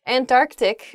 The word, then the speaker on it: Antarctic: really oh i guess when you're saying this word quickly you might leave out that first c in the antarctic so